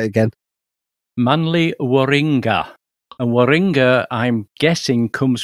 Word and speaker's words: Manly Warringah: And how do you pronounce that location properly, Ed? Go on, say it again. Manly Warringah.